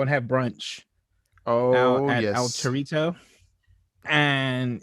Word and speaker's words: Torito: At El Torito, and it's pronounced Torito. Excuse you, Torito.